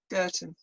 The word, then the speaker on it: Goethen: Well, they're not very good at Dutch pronunciations. Belgian. How do you say it, Di? Goethen.